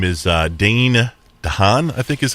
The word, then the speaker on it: Dane DeHaan: His name is Dane DeHaan, I think is how you say it. Dane DeHaan.